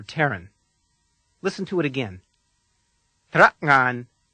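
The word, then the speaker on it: tera'ngan: second syllable, ngan, is the same as the sound that comes at the end of the word thing or hang. Let's practice it together. Mm. Listen once more. Trakngan.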